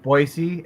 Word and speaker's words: Boise: Oh, but there's no Z in it.